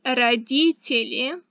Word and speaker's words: родители: Parents is родители. That's kind of a long word, so let's break it down. Родители. Родители. Родители. That's parents. Now the easier ones are mama.